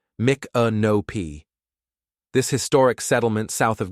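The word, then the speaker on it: Micanopy: Pronounced Mick AOP.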